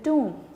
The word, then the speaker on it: tomb: इट इज़ टॉम, TOMB है, बट B is silent, हम इसे प्रोनाउंस करेंगे टॉम। जी, स्टार्ट करते हैं।